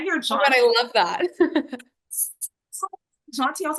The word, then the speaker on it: Jaunty: Jonty, I was like, I wonder how that's spelled because if it's spelled like John, J A Wn, I was gonna start cracking.